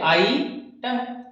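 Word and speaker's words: item: क्यों एन यूज करेंगे, यहाँ पे आइटम, इसका प्रोनाउंसिएशन ये है आइटम, तो आ आया है इसमें फर्स्ट साउंड, आ की साउंड आ रही है, फर्स्ट लेटर की साउंड आ की आ रही है, वोवल है, इसलिए एन यूज किया।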